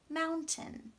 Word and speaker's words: mountain: correct for that spelling mountain now this part here does not sound the way that it's spelled it does not sound like tain it sounds like 10-10-10 this is a type of schwa now schwa is not